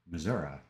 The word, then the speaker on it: Missouri: Missouri, that's how they say it.